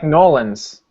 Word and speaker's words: New Orleans: Melbourne Melbourne Melbourne Melbourne it's like norleans not new New Orleans it's nor Orleans oh is it see I say it wrong then yeah you don't Pro you don't say New Orleans as New Orleans you can say New Orleans but not New Orleans New Orleans then you're definitely not from there okay no I'll